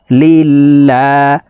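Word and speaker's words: لِلَّهِ: লাম খারা জবর আল্লা লিল্লাহ আল্লাহ শব্দের আগের হরফে জের আছে এই কারণে লাম কে পাতলা ভাবে অর্থাৎ লা বলেই পড়তে হবে লিল্লাহ হাজেরহি লিল্লাহি আলহামদুলিল্লাহি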